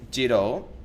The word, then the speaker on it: Giró: There is a grape called Giró, with the accent on the O facing backwards, which is a red Sardinian grape, which, ironically, was introduced by Spanish rule.